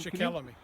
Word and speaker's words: Shikellamy: It's like 26 acres, but the statue down at the far end, I could not pronounce the Native American's name. Shikellamy.